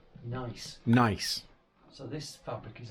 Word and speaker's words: gneiss: And how do you pronounce Nice.